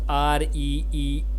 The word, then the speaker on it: freebie: How do you pronounce Reebie? The first syllable free is pronounced like the word free, and the second syllable by sound like we b. The stress is on the first syllable.